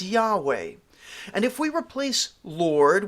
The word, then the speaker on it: Yahweh: of God which is the four Hebrew letters pronounced most often is Yahweh or latinized as Jehovah saying the Lord evokes